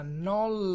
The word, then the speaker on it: Knoll: soliti per fare Flex si chiama knoll lights Factory non Light Factory la k è muta non si pronuncia quindi si chiama non Light Factory della Red